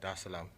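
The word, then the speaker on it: Dar es Salaam: the seventh to come straight to um tanzania da salaam did i pronounce that right yeah okay cool there islam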